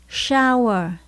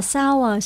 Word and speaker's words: shower: Ở trong tiếng Anh thường khi mà chữ S và chữ H đứng kép chung với nhau, chúng ta phát âm là sh. Chữ S chính là chữ S Sài Gòn các bạn nhé. She shower, chứ không phải là sour, sour nha các bạn. Lưu ý chữ S và chữ H đứng chung với nhau phải đọc là sh.